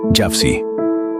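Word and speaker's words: Jafsie: Money is ready, Jafsi. Es decir, el dinero está listo, Jafsi. Ese Jafsi funciona como apodo formado por la pronunciación de sus iniciales JFC, y el anuncio sirve como señal de estoy listo para el criminal.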